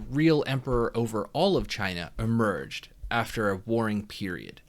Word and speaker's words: Qin: under the qin dynasty q-i-n but it's the pronounced che and that's where we